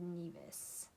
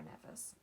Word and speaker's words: Nevis: He is from Charlestown, a small area on the British island of Nevis, or Nevis. You pronounce it how you feel.